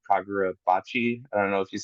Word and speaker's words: Kagurabachi: There's one in particular that I've been reading for a while now called Kagura Bachi. I don't know if you've seen anything about that yet. Kaguru Bachi.